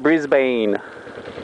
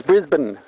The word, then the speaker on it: Brisbane: to the place north of sydney it's not brisbane it's brisbane b-r-i-s-b-n brisbane okay so melbourne brisbane the place